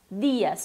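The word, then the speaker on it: día: O D fraco, dias. Dias. Já aproveito para dar dica quando a gente vai falar em dia em espanhol, é dia, também com esse D fraquinho, tá?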